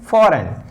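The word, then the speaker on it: foreign: जी comes बिफोर एन, जब भी जी एन से पहले आता है तो जी का प्रोनाउंसिएशन नहीं होता है। इसीलिए इसको हम लोग पढ़ते हैं डिजाइन, जी का प्रोनाउंसिएशन यहाँ पे नहीं करते हैं। इसीलिए इसको हम लोग पढ़ते हैं फॉरेन, जी का प्रोनाउंसिएशन नहीं करते हैं।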